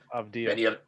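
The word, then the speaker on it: Avdija: Denny, I'm not even gonna try and pronounce his last name. Dia? Avdia. Denny Avdia. Avdia.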